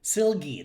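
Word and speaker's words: Silge: out to julius oh yeah how do you pronounce this name julie is his doctor julia silgi silgie that's right silly yup i always want to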